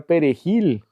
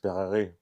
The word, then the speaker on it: perejil: del perejil, porque los haitianos no pueden pronunciar la palabra perejil, eh, porque ellos hablan francés. ¿Cómo dirían los los haitianos? Perarril.